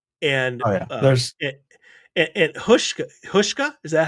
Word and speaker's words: Houska: There's and Hushka, is that how it's pronounced? Houska.